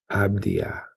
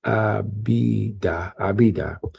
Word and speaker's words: Abidah: And the sons of Midian, Ephah and Ephah and Hanach and Abdiah. I think I said it wrong. Abidah, and Eldaah.